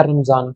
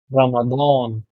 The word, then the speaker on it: रमादान: जा, न, हो गया रमजान। रमजान हाय, रमजान रमजान आ गया ना रमजान, लेकिन इसका ओरिजिनल प्रोनाउंसिएशन है रमादान, दो, क्योंकि ये जो